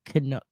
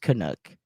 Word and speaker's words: Kanuch: So if you look it up, it's spelled Kanuch, but it's pronounced Kanu.